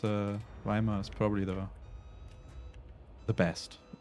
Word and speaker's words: Weimar: i know i know we're pronouncing weimar wrong but that's how you that's how you pronounce it in english i know it's it's weimar but it's like it's pretty close it's okay fire on